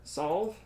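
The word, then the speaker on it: Salve: it stands on the river solve that's how that's pronounced it grates the interest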